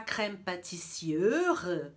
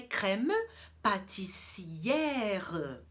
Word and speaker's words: crème pâtissière: O E, então, é E. Mas ali a gente tem um acento grave. E o acento grave, ele abre a pronúncia do E. Então eu não vou falar crème pâtissière, até difícil de pronunciar. Com o acentozinho eu vou abrir o E, por isso que a pronúncia é crème pâtissière.